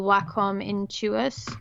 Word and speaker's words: Wacom: it to them because I got a little Wacom Intuos, is that how you say it? Yeah. I got a little Wacom, and so I replaced my trust with it and gave my trust to Steven.